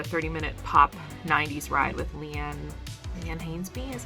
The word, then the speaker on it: Leanne Hainsby: I did a 30-minute pop 90s ride with Leanne Hainsby, is how you can pronounce her name.